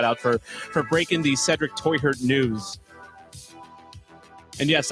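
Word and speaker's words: Teuchert: And yes, I got Toyhurt's pronunciation wrong in the video. It's technically Toyhurt. like that. I just don't see a lot of Americans doing the, part. Because Germans say the ch part with the back of their throat. So Toyhurt, I think, is going to be the accepted pronunciation.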